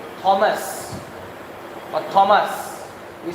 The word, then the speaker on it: Thomas: now onwards we will not say Thomas or Thomas we say Thomas because in English the T the her is not pronounced Thomas Thomas D Quincy q u i